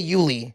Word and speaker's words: Yuli: Even when I say Yuli. Yeah. I'm like, "Yuli." It's usually Y U L I And they're like or they say Julie, whatever.